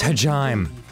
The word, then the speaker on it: Hajime: of yourself hajime you just progressed oh it's pronounced hajime sorry i should have said earlier show me